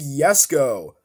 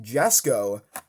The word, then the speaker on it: Jesko: got the 2020 koenigsegg yes go most people pronounce it yes go and that's how it's supposed to be pronounced but a lot of people pronounce it jessico and that's completely fine